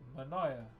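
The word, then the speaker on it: Manaia: M-A-N-A-I-A is how you spell it. Manaya.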